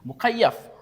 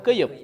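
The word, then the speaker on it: مكيف: Nah, ini mukayyaf. Bukan keyup, tapi apa? Mukayyaf.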